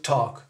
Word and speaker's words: talk: Non, on ne prononce pas le L, d'accord? Ni pour walk, ni pour talk, d'accord?